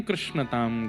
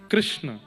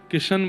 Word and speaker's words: कृष्ण: कृष्ण इस शब्द का उच्चारण कई लोग शुद्ध नहीं करते। क्योंकि शुद्ध कर लेंगे तो फिर भगवत प्राप्ति हो जाएगी। इसलिए सब लोग इस नाम को कोई किशन बोलता है, कोई कृष्ण बोलता